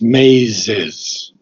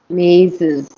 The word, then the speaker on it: mazes: a self bewilderment yeah you have to pronounce the Zed very clearly mazes Maes Maes mazes